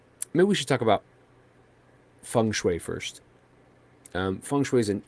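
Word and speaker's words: 风水: yeah exactly and uh funu which is how it's properly pronounced in in Mandarin is wind and water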